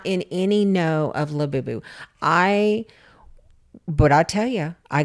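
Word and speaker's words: Labubu: La Boo Boo. La Boo Boo.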